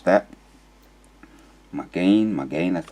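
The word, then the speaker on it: מָגֵן: we can get the sound here buckler the pronunciation strong's age 4043 my gain my gain so that's how you pronounce that my gain my gain that's how they pronounce it strong's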